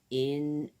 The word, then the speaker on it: inevitable: So, inevitable. 4 syllables. Inevitable. Hold on a minute. 5 syllables. Inevitable. 5 syllables, guys. It just rolls off my tongue. Consequently, I thought there was 4, so it's 5 syllables.